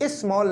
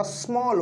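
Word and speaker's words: small: नहीं भाई, आप प्रोनाउंसिएशन इसकी ठीक नहीं करते हैं। इस स्मॉल नहीं होता, स्मॉल होता है। इसका साउंड जो है वो एस से स्टार्ट होगा। इसी तरीके से लार्ज, इसको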